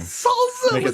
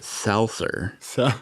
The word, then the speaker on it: salsa: They pronounce it salser. Yeah, salser. They add they add an R that is not there.